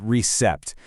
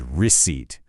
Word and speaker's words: receipt: I mean, the temptation is so strong to say that P, right? To make it recept. But nope, that P is completely silent. It's just not there. The correct way to say it is receipt. That's it. Two syllables. Try it. Receipt. Simple as that.